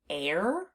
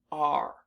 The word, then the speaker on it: are: We pronounce this word r. So the unexpected part of this word is the e at the end because it's not doing the job that we expect it to do.